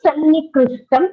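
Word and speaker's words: सन्निकृष्टम्: Can you see a double nakara over here? Yes, Sannikrishtam. Yes.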